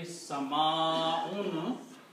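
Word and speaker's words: سَمَاءٌ: Now one more thing here, that whenever you have an alif before a hamza, this alif should be pronounced with a mad.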